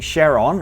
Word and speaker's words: Charon: and its main moon Charon or Charon however you like to pronounce that they are tidally locked